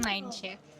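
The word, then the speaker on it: Nijntje: Sebelum aku ke sini aku juga tahunya ini namanya Mii ya bukan Nain ternyata nama aslinya Ninch.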